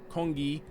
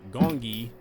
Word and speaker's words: Gong-gi: She's the one that put me on game to pronouncing the game as Gong-gi and not Gong-gi like I was originally doing.